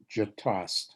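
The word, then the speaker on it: Gjetost: I say it Jatost. I don't know that that's the correct pronunciation, but it's a French word and it's a brown cheese, a Huh.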